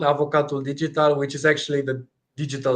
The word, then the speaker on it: avocat digital: instead nice well welcome here how do we pronounce the name of your startup correctly it's called avocat digital which is actually the digital lawyer in English